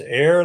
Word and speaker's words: Eyre: the first go around my last name is pronounced air like what you breathe got it I want